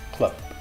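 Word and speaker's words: club: In this case, you pronounce it like a P. So here we have bet and clup. You don't want to say clup with a lot of, H on it, just clup.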